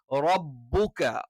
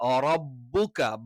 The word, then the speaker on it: ربك: ഇവിടെ രണ്ട് ചുണ്ടുകളും ശക്തമായ രീതിയിൽ നമ്മൾ അടച്ചിട്ട് എന്ത് ചെയ്യുന്നു, റബ്ബുക റബ്ബുക. ബ ബ ബ തന്നെ എന്താണ് ഇവിടെ, റബ്ബു എന്ന് പറയുമ്പോൾ രണ്ട് ബ ഉണ്ട്.